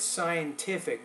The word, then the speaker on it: scientific: So, as I said, scientific. Don't forget that T in there.